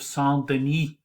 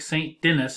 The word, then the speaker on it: Saint-Denis: The building he was talking about that's considered the first Gothic building is the Abbey of Saint-Denis. Yeah, it looks like Saint Denis in English, but in French it's Saint-Denis.